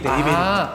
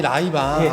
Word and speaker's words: 레이벤: 그래서 이제 지금 아버님들이 라이방 하셨던 게 이 레이벤. 그 레이벤의 발음이 라이바. 일본식 발음.